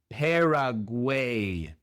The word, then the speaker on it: Paraguay: Y la última A también es como una E. Paraguay. En lugar de Paraguay es Paraguay. Después tenemos Perú.